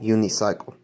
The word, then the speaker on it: unicycle: En este caso, el sufijo uni se pronuncia como uni, pero no le pongan fuerza de voz a la letra I. ¿Ok? Pronúnciala despacio. Unicycle. ¿Ok?